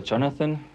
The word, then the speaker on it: Jonathan: Nee, erstens mal heißt er Jonathan, also weil ich leg Wert auf die englische Betonung.